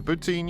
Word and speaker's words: poutine: is something tasty to poutine your mouth for anyone who is unaware the french canadian pronunciation close to putin makes this joke work